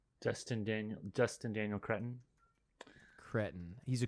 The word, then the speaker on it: Cretton: Dustin Daniel Cretton. Cretin. He's a cretin, you mean? Cretin. You pronounce it cretin.